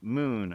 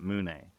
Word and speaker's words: Mune: found the trailer, and it's pronounced Moon, not Moone.